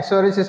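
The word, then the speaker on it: psoriasis: আর কি ঠিক আছে পি এন পিএস এগুলো থাকলে পি এর উচ্চারণটা আসে না তো বা সিরাসিস ঠিক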